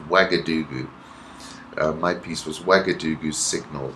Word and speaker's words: Ouagadougou: I kept saying Ouagadougou, but it's pronounced Ouagadougou.